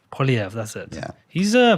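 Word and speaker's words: Poilievre: times how do you say his name Pierre poliev poliev that's it yeah he's uh putting some good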